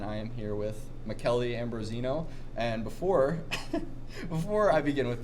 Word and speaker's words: Ambrosino: So my name is pronounced, even all my friends never really say it right, but it's Michele Ambrosino. It's spelled M-I-C-H-E-L-E like Michael.